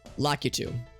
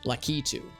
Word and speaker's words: Lakitu: apparently pronounce it as lucky to which is to say emphasis on the key and not the two like a two a